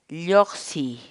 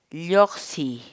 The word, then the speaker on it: lloqsiy: de videos en la que te enseñamos a pronunciar algunas palabras en quechua. Así que nuestra palabra del día por hoy es Lloxi, lloxi, lloxi, la palabra quechua.